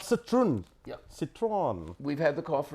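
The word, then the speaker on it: Citroën: Citroen.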